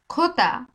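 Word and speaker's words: jota: এখানে যে কে বলি যে কে বলে স্প্যানিশে খোতা খোতা একটু নাকে বাজিয়ে খ এর মত উচ্চারণ হয়ে খোতা একটু নাকে বাজিয়ে নাকে বাজাতে হবে খ এর মত উচ্চারণ হবে ঠিক আছে খ এর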